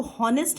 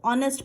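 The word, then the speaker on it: honest: तो हम इसको हॉनेस्ट नहीं पढ़ते, हम इसको ऑनेस्ट पढ़ते हैं। एच यहाँ पर साइलेंट होता है, तो इसीलिए यहाँ पर करेक्ट ऑप्शन है एन।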